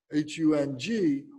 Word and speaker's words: Hung: And then Hung, H-U-N-G, or H-U-M. In Sanskrit, it's H-U-M. The Tibetans recite it as Hung, H-U-N-G.